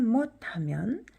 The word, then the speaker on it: มด: 그런데 요걸 요 음절을 못이라고 발음해요. 왜 그렇죠? 모음이 없이 자음 두 개만 쓰일 때는 모음 오가 생략되었다고 보는 거죠. 그래서 여기에는 단모음 오가 생략되었다고 보는 거라서 못 이렇게 돼요.